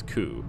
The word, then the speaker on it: coup: pretty sure it was coup like not with the P is silent but anyway you can